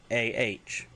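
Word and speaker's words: Mando'a: So the Mandalorian name for the Mandalorian language is Mandoah, and that's pronounced as Mandoah, even though it's spelled Mando apostrophe A.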